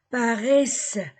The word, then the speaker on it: paraissent: Les gens paraissent. A-I-E. E-N-T du verbe ne se prononce pas.